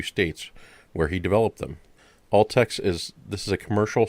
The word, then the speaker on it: Altex: commercial breeds are still recognized breeds again the all tax all tex rabbit is a relatively new breed